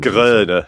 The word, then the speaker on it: Groener: Drink Ebert and General William I'm going to really struggle with that German name. Groener. Yeah, it's it's Groener.